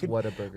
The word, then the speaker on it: Whataburger: And every time I say it, people are like, you're not even saying it correctly. It's Whataburger. We can tell you're not from Texas.